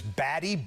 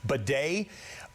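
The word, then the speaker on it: Badie: spelled, it looks it looks like it says Baddy. B- A D I E, he pronounces it bad.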